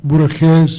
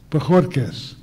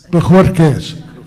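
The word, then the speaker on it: Bojórquez: Javier Valdez Cardenas and Ismael Borges Perea, is that correct? Did I say it right? Bojorquez. Bojorquez. Ismael Bojorquez Perea.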